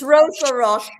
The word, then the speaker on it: Roche: So before we go any further, I want you to Am I pronouncing it right? It is resin and ro, isn't it? Yeah, Raj. That's fine. I'm just making sure. It's ro.